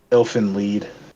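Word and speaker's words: Elfen Lied: I can recommend Elfin lead. Uh like Dragon Ball Z Elven lead. Yeah, Elfin. E L Fen lead, but it's spelled like lied.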